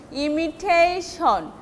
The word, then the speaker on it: imitation: Imitation, this T will be stressed and long.